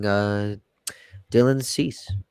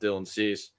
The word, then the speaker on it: Dylan Cease: Now, the Astros now have been targeting Dylan Cease. Did I say that correct? Yeah, still in That's it. Cease. Yep. Dylan Cease. Nice. Look at me, my pronunciation.